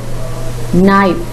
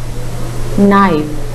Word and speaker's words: knife: knock the silent little cave the second world knife knife the silent litter is clear third word wrap